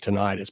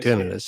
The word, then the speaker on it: tinnitus: Some people pronounce it tinnitus, but it's really tinnitus.